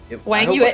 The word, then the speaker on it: Wang Yue: Midyarov was black against Wang Yue, and am I saying that remotely correctly, by the way? I think I'm like... Wang Yue, oh yeah, you're killing it, your pronunciation is 10 out of 10, unlike my English pronunciation.